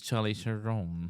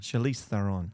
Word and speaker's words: Charlize Theron: you were in the monster movie when it was Charlie Theron. Charlize Theron.